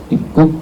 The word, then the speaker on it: 입국: Ibkuk bacanya ibkuk ya, ibkuk jolca itu prosedur masuk ke negara.